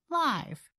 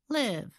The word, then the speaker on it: live: adjective an adverb or a verb when it is used as an adjective or adverb we use the I sound like live I love live music are you watching the game live when it is used as a verb we use the I sound like live where do you live we live just outside the city as for the word